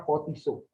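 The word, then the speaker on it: φωτίζω: ini dari bahasa asli photizo yang merah-merah itu bacanya pot isu artinya diterangi maksudnya ini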